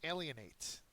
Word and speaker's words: alienate: friend next word is alienate an alienate is a verb it has the first syllable accented means to turn away